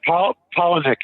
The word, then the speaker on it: Palahniuk: of the novel by, I think it's Chuck Palahniuk, I think is how you pronounce his last name. Yeah, Palahniuk, actually. Palahniuk. Oh, Palahniuk. I know, it's spelled different than it sounds, but yeah.